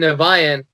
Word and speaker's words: Niviane: How do you pronounce it? IMAGIKA. Yep. And then NIVIANE.